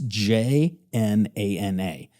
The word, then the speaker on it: Jnana: Jnana? Yeah, well, Brian Rescue taught me how to pronounce it because it's Jnana. So it's like jnana, like a nasally jnana.